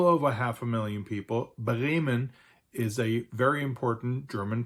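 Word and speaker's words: Bremen: population of well over half a million people ban is a very important German port city and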